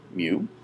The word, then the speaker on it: mu: left you see the Greek letter mu it's pronounced mu uh it it is the Greek ancestor of